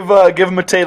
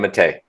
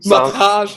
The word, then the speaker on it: Matej: First of all, do you pronounce your name Matej? Yeah, that's perfect pronunciation. I just rewatched I just watched the podcast with Eddie, and he said something like Mateja or something. Mataj, man. Mataj, and I was like,